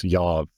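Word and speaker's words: איוב: I think the proper pronunciation is in Hebrew, it's Yav.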